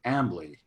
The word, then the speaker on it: Ambly: of that effort, she's been working on developing Ambly. Did I pronounce it right, Cy?